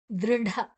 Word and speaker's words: ದೃಢ: ಸೇರಿದೆ ದೃಢ ನಿಶ್ಚಯಹ ದೃಢ ದ ಮತ್ತೆ ಋ ದ್ರ ಅಲ್ಲ ದೃ ದೃಢ ದೃಢ ಡ ಮಹಾಪ್ರಾಣ ನಿಶ್ಚಯಹ ನಿಶ್ಚಯಹ ನಿಶ್ ಮತ್ತೆ